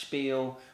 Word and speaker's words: spiel: Actually, I heard it's pronounced spiel, which was a whole nother conversation.